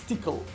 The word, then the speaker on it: Tcl: Like tickle, that's how you pronounce it, right? It's tickle.